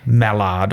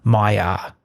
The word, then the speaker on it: Maillard: It's not pronounced Maillard or Maillard. It's a French term, and my French is terrible, but it sounds more like Maillard.